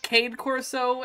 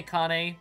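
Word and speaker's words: Cane Corso: heck you said was Cade Coro is what most people tend to pronounce it as but I say Kane because it's Italian for dog it still does not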